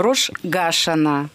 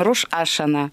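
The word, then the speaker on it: Рош ха-Шана: У них, скажем, Рош Гашана. Причем Гашана. Естественно, Гашана. Они же белорусские евреи. Здесь мы произносим Рош Ашана, вятские евреи.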